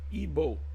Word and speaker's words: Igbo: of the word igb they say they pronounce ebo ebo so let's see what